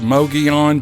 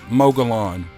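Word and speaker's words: Mogollon: people say it's pronounced mogeon but that's not how it's spelled and i'm officially declaring that m-o-g-o-l-l-o-n is now and forevermore pronounced mogalon that's the official pronunciation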